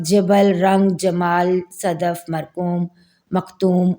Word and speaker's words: جبل: معنی ہے پہاڑ یا کو، اور اس کا تلفظ ہے جبل۔ پھر ہے رنگ جمال، رنگ جمال کے معنی